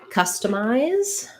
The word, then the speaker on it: customize: request for the word customize so let's look at your word customize um we have first syllable stress in customized just like the beginning is just like the word custom um and so we